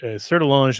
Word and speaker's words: Sertillanges: Sertillange is spelled, as you might imagine, Sertillanges.